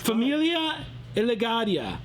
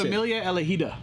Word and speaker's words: Familia Elegida: Familia Elegaria. Familia Elegaria. It sounded Harry Potter-ish right there. Familia Elegaria. Familia Elegaria. Yeah. I'm not sure. How do you say it? It's Familia Elegida.